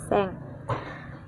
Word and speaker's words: sen: Untuk ribuan konsepnya adalah angka satuan ditambah seng. Tulisannya sen ya teman-teman, namun dibacanya seng.